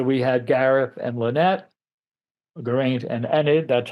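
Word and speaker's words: Geraint: sexual relationship so we had Gareth and Lynette Gant and Enid that's how it's pronounced Merlin and Vivian who did have a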